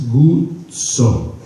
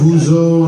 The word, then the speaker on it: Guzzo: Let's go over this, guys. It's Guzzo. Not Guzzo, not Guzenstein for the Jewish community, friends of ours. Not Yo-Yo Bro Guzzo. No. It's Guzzo. Guzzo.